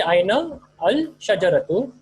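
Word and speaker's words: أين الشجرة: So you say Aina al shajaratu. The na will merge with the lam.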